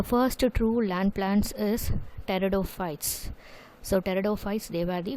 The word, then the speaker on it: pteridophytes: Okay, so the first true land plants is pteridophytes. Pteridophytes, pteridophytes. Actually, you should not say, P is silent here, so you have to write Pteridophytes, pteridophytes.